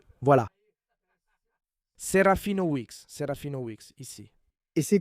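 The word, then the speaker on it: Serafinowicz: Lui, la prononciation, c'est Weex. J'ai cherché parce qu'il était toujours dans les interviews, les gens disent toujours mal mon nom. ? Voilà. Serafina Weex, Serafina Weex, ici.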